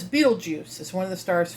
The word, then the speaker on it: Betelgeuse: It's actually named Betelgeuse. If you have seen the movie Beetlejuice, he's named after this star. They just spell it different.